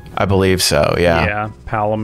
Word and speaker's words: Palom: believe so yeah yeah palum and porum yeah okay that's how you say it oh my gosh I said it wrong the whole time it's their Tech space